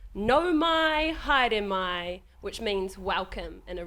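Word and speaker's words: Nau mai, haere mai: Your pronunciation's amazing. Okay, great. I'm going to do it. No mai, haere mai. No mai, haere mai.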